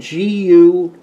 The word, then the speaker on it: Guajillo: These are called guajillo. Am I pronouncing it right, Donna? These are your Spanish chilies, Mexican chilies, and it's spelled Guajillo chilies. Guajillo is the pronunciation.